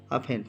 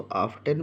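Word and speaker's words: often: इसको लेकिन पढ़ते हैं अफन काफी बच्चे इसको आफ्टन पढ़ते हैं बट यह आफ्टन नहीं है इसमें टी साइलेंट है इसको हम लोग पढ़ते हैं अफेन जिसका अर्थ होता है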